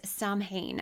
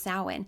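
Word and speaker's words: Samhain: So, first there's Sam Hayne. Uh, sorry, it looks like Sam Hayne. It's actually pronounced sin.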